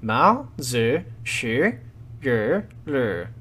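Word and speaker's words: 毛主席语录: Okay, so we will start off with the pronunciation. The Chinese title of the book is, as best as I can manage, Mao Zi Shi Yu Lu, with Mao in the second tone, Zi Shi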